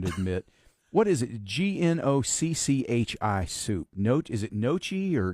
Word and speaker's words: gnocchi: It's pronounced gnocchi. Gnocchi. Okay, gnocchi.